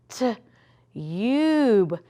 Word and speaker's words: tube: Short U says ah, but what if I put that silent E. Now what's my word? T-u-b-e.